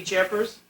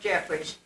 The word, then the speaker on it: Jeffries: Doris, would it be Jeffers? It was Doris Jeffries.